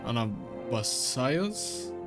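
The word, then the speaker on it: Anabaseios: Anabasios?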